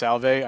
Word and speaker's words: Salve: It's uh it's pronounced Salv. I know it's written Sal. Oh, Salve. Okay. Sorry. Like, no, it's fine. I I I tried to have an accent put on the E, but I couldn't register